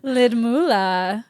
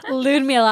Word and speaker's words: Ludmila: Ludmila. I said it wrong. Ludmila. I even looked up how to pronounce it.